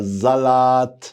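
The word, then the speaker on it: Salat: اما الاس يا روحي عليها قلنا قبل الاخر بتتنطق زين وفي اول الكلام تتنطق زين. قول معايا زلط.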